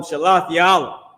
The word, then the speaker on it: Shealtiel: But if you can go back, so after Shealtiel or whatever that was, Shealtiel, you know, I call him Shalathiel, which is his name.